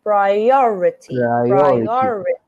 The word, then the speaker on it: priority: You know that you would have to put the stress on the next sound. Priority.